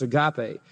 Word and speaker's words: Agape: feast became known as the Agape or some of you may have heard it pronounced Agape it was the love